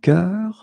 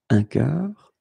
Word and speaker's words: cœur: And the first one is un bœuf, un cœur. It's actually quite interesting, because even if you write them differently, you pronounce them the same way. Un œil, un œuf, une sœur. Okay, so un bœuf, un cœur, un œil, un œuf, une sœur.